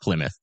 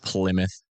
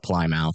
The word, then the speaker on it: Plymouth: Yeah, it's pronounced Plymouth. Yeah. Pronounced Plymouth. I just like calling it plym mouth because it's funny and it's definitely the best way to say it in my opinion.